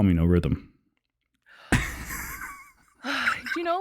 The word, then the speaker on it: Norythum: Norithum! That's what he does. I've heard him do that a couple times, and I'm like, hey, buddy, it's actually no rhythm, but it's okay.